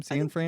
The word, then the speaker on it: Cianfrance: Cianfrance.